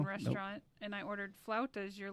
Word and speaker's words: flautas: Mexican restaurant and I ordered flautas. You're like, you ordered what? And then you tried to pronounce it and it came up like fupas or some shit.